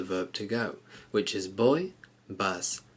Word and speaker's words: voy: go and remember that the v in Spanish is pronounced more like a b so it's not voy but boy so let's just focus